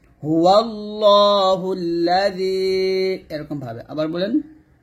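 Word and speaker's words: هو الله الذي: হুয়াল্লাহুল্লা, জাল ইয়াজেরি জি, এই জালটা পাতলা হবে। যখন জালটা উচ্চারণ করবেন জিহ্বাটা উপরে তার আগে লাগিয়ে পাতলা করে উচ্চারণ করবেন। হুয়াল্লাহুল্লাযী, এরকম ভাবে। আবার বলেন হুয়াল্লাহুল্লাযী, আবার বলেন, বারবার বলেন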